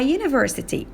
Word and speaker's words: university: Similarly, if the first letter of a word is a vowel but is pronounced as a consonant, we use a instead of an, like she's a United States senator or I go to a university.